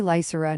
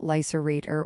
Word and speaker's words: Lysura: Kale, you call me Lysura, not Lyserator or Lyseraphobia.